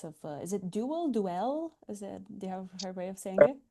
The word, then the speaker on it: Duél: And even though there is no stress in in French, but it's pronounced with the stress on E. I think it's dwell then.